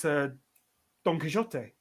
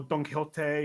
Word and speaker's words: Don Quixote: Well, it's Don Quixote, or Don Quixote, or Don Quixote, or if you want to pronounce it in Argentinian Spanish, mainland Spanish, or in the English way.